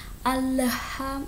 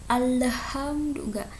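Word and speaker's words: الحمد لله: di sini Alhamdulillah alhamdulilladzi kamu membaca alhamdulillah itu tidak boleh dipantulkan Allah HAM itu salah ya alhamdulillah tapi alhamdulillah jelas ya oke pertama itu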